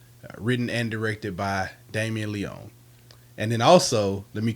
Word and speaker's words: Leone: And the main characters, their last names are spelled the same, but it's pronounced Leone.